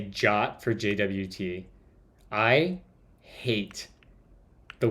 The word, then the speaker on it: JWT: where is it introduction the suggested pronunciation of JWT is the same as the English word jot it infuriates me to